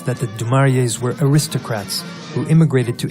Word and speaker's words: du Maurier: She wouldn't say du Maurier, but du Maurier.